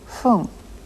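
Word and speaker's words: ふん: not poon but whom after certain numbers the correct pronunciation of the word for minute is Foom go home you go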